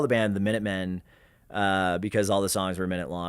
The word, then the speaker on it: Minutemen: They actually, which everybody kind of assumed, it was actually supposed to be pronounced the Minute Men, because they were like insignificant.